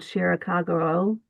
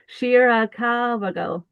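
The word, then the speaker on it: Shirakawa-go: is a place called Shirakaguro. Not, no, that's not how you say it. Shirakagago.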